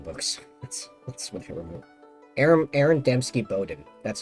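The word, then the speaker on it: Aaron Dembski-Bowden: Aaron Doutsky Bowden, something like that. ABD, the guy that wrote the Black Legion books. That's what I remember. Aaron Dembski Bowden.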